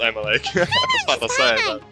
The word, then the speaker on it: Emilie: Emily a perfumer from if it was not pronounced Emily I'll would be like what the it is pronounced Emily thank you so much